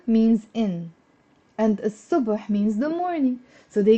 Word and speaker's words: الصبح: And instead of saying الصبح, don't pronounce the l. Pronounce الصبح.